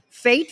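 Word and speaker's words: fête: You pronounce it how? Fate photo booth. It's French for party.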